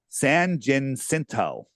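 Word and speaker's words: San Jacinto: um and this is Mount San jinto is said it right for the first time sanin cinto okay every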